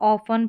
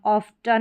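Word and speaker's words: often: Silent रहेगा तो इसको ऑफन पढ़ेंगे। क्या पढ़ेंगे? ऑफ़न ऑफ टन नहीं पढ़ेंगे। टी इसमें साइलेंट रहेगा।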